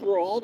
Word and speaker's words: Roald: You never read any other Roald Dahl book, I watched the movies. I just never read any of the book. I don't think. Is Max pronounced rolled? I thought it was just rolled.